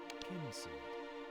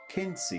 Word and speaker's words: Kynseed: How to pronounce Kynseed. Should we try that? Kynseed. Oh, there we go. Yeah. Kynseed.